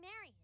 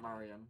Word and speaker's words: Marian: Wait, before we go, we need to know, why were you controlling Marian? Marian, not Marian. Because I got my bad. I've been pronouncing it wrong.